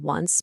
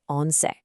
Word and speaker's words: once: Yep, it looks exactly like the English word once, but it is pronounced once. Just make sure you really emphasize that C ending, once.